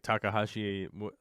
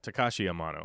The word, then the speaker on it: Takashi Amano: if there was a dream job, it's like Takahashi. How do you say his name? I always get his name wrong when I'm live. Takashi Amano, right? Yeah, Takashi Amano.